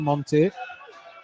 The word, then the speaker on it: Monte: Gateshead trying to close it down as Ogle on the far side plays it across to Monte. Not Monif.